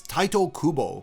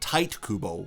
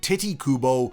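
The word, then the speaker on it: Tite Kubo: pronunciation in Japanese is Tito Kubo in English English with the way it is romanized it should be pronounced tight Kubo but people seem to really enjoy calling him titty Kubo or TI Kubo and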